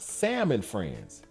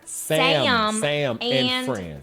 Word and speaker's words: Sam and Friends: In the 1950s, a show called Salmon Friends was the foundation pronunciation. All right. Salmon like s a l m o n. Salmon friends or Sam and friends.